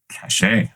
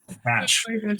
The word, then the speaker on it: cache: Cashache? That sounds so fancy. Just reading a question from the chat. I could be pronouncing it wrong. Do not do not. Cashache. Cash.